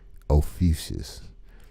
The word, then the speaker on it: Ophiuchus: So if you see the word, this is how you pronounce it, Ophiuchus.